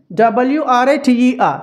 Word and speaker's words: writer: WRITER, రైటర్. WRIST, రిస్ట్. WRAPPER, రైపా. ఇవన్నీ కూడా W silent అండి. Whenever we find a word starting with WR, W is always a silent letter.